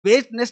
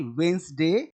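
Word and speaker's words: Wednesday: Sunday, Monday, ट्यूसडे, वेस्टनेस नहीं वेडनेसडे, Thursday, Friday, Saturday, Sunday.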